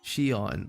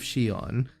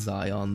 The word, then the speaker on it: Shion: It's pronounced Shion. I'm so I'm so sorry, guys. Shon. The mask of Shion. Thank you for your patronage. Can you blame me for thinking it's Zion, though?